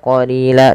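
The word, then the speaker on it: قَلِيلًا: bahas yaitu la a ini ada namanya mad iwad pada lafal la yaitu apabila ada fathatain bertemu alif di akhir bacaan dan kita waqaf maka dibaca dengan mad iwad yaitu misalkan di sini ban berubah menjadi ba panjang ba kalau lan berubah menjadi la ah inilah dinamakan mad iwad tanwinnya diwatkan, diganti dengan panjang.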